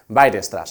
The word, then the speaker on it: Weierstrass: es el teorema de Weierstrass. Se escribe de una forma un poco extraña para nuestra lengua, pero se pronuncia más o menos así, Weierstrass.